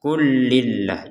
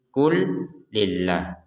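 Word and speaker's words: قل لله: lam sukun ini ya lam sukun ini ya bertemu dengan lam maka lam yang pertama dimasukkan kepada lam yang kedua sehingga langsung saja dibacanya klillah kullillah Jadi jangan sampai dibaca terpisah menjadi Qul lillah Qul lillah itu kan ada Jedah Qul lillah ada Jedah sedikit Enggak ada enggak ada jeda sama sekali jadi langsung saja killahi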